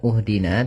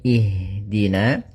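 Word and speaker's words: اهدنا: Maka kita baca di sini bukan uhdina tapi ihdina.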